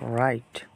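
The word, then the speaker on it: write: পরে যদি এইচ আর থাকে তাহলে এই ডবলিউর উচ্চারণ হবে না তার মানে হচ্ছে রং মানে রাইট হচ্ছে কি রাইট মানে লেখা একই সেমভাবে রং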